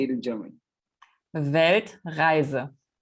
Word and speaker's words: Weltreise: Weltreise. Weltreise.